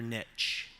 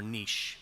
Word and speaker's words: niche: to life next slide finding your Niche or Niche depending on your pronunciation preference because an Niche is